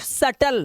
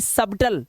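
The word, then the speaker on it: subtle: date doubt सटल सिर्फ सटल ना कि सबटल सबटल नहीं पढ़ना है सिर्फ सटल सिर्फ इतना पढ़ना है ठीक है आगे चलो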